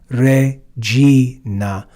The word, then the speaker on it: Regina: Hail Holy Queen Salina notice that the G here is followed by the sound e so it's read with that soft G sound Sal re Reina m m Hail Holy